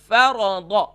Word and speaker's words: فرض: مثال کے طور پر اکثر اسے پڑھتے ہیں فرض, کتب, صدق, ورد, نہیں, فرض, یعنی کہ اسے جھٹکا بھی نہیں دینا ہے اور کھینچنا بھی نہیں ہے.